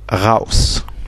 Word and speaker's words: raus: Le A à côté du U se prononce au, comme dans le mot raus.